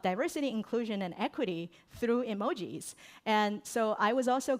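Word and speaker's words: 絵文字: And did you know by the way uh emoji actually the actual pronunciations of emoji in Japanese is emoji and it's actually three Chinese characters.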